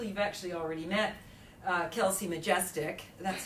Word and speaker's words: Chomistek: You've actually already met Kelsey Chomistek. That's how I remember. Chomistek rhymes with majestic.